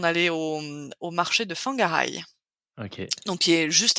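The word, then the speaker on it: Whangarei: ben voilà mais Fang quandand je dis fangaray c'est wangarai c'est W savais pas que ça se pronçait tu le WH tu le prononces euh F feu ouais Fangar ouais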